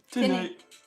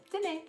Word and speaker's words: tenez: Tenez. Tenez. Is it tenez? Tenez. And it's spelled Tenez.